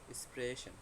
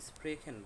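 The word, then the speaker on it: sprechen: এটাকে অনেকে স্প্রেশন বলে, আবার অনেকে স্প্রেখেন বলে, দুটেই রাইট। কারণ হচ্ছে অস্ট্রিয়াতে আপনার এটাকে স্প্রেখেন বলে, বা জার্মানির কিছু অঞ্চলে এটাকে স্প্রেখেন বলে, হ্যাঁ, সে হাকে খ উচ্চারণ করে।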